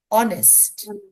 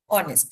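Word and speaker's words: honest: আর একটা বলে কি আছে, অনেস্ট, অনেস্ট, সো এইচ is silent letter. আমরা সবাই জানি যে বসে না, বিকজ উচ্চারণ হচ্ছে অনেস্ট, উচ্চারণ হচ্ছে অনেস্ট ও থেকে, বাট এইচটা তো আছে, তো এইচ ইজ সাইলেন্ট লেটার।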